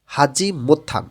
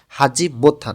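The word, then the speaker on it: 하지 못한: এস থেকে company থেকে হাজি মোত্থান এখানে দেখেন ত ধ্বনির বাচ্চিম যখন পাশে যখন হিউত আসে তখন ত ধ্বনিটা হিউতের স্থানে চলে যায় থ এর মতন উচ্চারণ হয়ে যাবে হাজি মোত্থান এবং এখানে হাদা মানে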